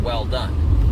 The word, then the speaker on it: Welldone: or gals know but my last name is actually pronounced well done like good job right um but phonetically uh